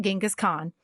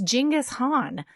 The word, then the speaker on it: Genghis Khan: back to genghis khan is the way it's pronounced not genghis khan like us texts inside genghis khan it's genghis han goldie han's brother um jingus jingus and he